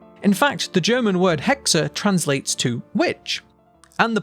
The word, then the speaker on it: hex: that followed ancient greek the number six is pronounced hex this is where modern